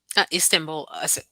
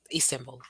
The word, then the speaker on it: Istanbul: I used to call it Istanbul, so I've been saying it wrong all along. Istanbul, Istanbul, Istanbul, and Ankara.